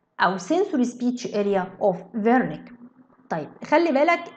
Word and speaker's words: Wernicke: يبقى بسميها فيرنيكس اريا او sensory speech area او sensory speech area of Wernicke. طيب خلي بالك ال W ده عالم الماني، فال W تحتها نقطتين منطقها V.